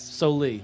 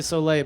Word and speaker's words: Sollee: official Kentucky version yes so Lee alright so pretty close a lot of people say so late but I really don't